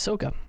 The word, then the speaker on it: Ahsoka: It's Ahsoka.